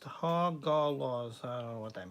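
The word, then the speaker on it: Hagalaz: It's Haglaz. No, it's pronounced Hagalos.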